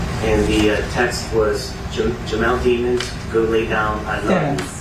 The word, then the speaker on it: Demons: The username was j.kingrn, and the text was Jamell Demons, go lay down, I love you. It rhymes with lemons.